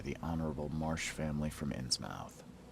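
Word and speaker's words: Innsmouth: Marsh family from insmouth I still say you should pronounce it not in his mouth if you look at American and or British spellings or pronunciations of words you wouldn't say mouth you'd say muff right like Plymouth Plymouth Rock we don't say Plymouth Rock or Plymouth Rock we say Plymouth right or whatever it might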